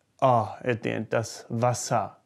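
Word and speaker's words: Wasser: the water does Vasa can you hear the ass at the end Vasa some people might over pronounce it and say thus vosam but no one really does there to be quite honest if you do that you sound a bit odd at least in Germany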